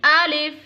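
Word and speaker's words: ا: Alif, Alif, alif. Alif, Yes, pronounce from the empty space of the mouth.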